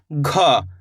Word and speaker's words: घ: घ, कैसे पढ़ेंगे घ, थोड़ा इसके उच्चारण में अपन जोर लगाएंगे घ, इस तरीके से, जैसे कि घंटा, घड़ी, घ, घोड़ा, इसको सिंपल पढ़ेंगे गा, इसको पढ़ेंगे घ।